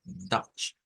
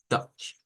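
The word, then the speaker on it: Deutsch: el idioma original hemos dicho que es es dutch dutch Entonces vamos a ir acá y vamos a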